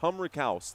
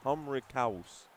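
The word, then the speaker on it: Humrichous: Humriaus. That's how it's pronounced. Waggler Stoyakovich. Humric. Humouse. Humouse. Humriaus. I know it's a ch, but I listened to it before this game started.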